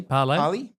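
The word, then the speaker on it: Parlee: And Parlay, there's a brand. Parlay? So I pronounced that correctly? Parlay.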